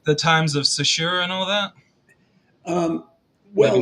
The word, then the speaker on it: Saussure: Ferdinand de Saussure, is that how you say his name? So Saussure? sure, so sure. Yeah, Yeah, right. Saussure. Yeah, yeah.